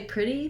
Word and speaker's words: pretty: tense you might find that's challenging but once you get it you're going to be able to apply that itty ending on many many words and it's going to be helpful and useful for pronunciation once i can say